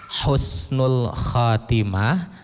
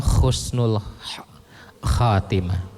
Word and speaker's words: Husnul Khatimah: itu karena salah pengucapan Husnul Khatimah atau Khusnul khatimahah ini kalimatnya beda ha dengan K kalau dengan Husnul itu baik akhir yang baik tapi kalau pakai k itu akhir yang buruk Nah itu harus betul-betul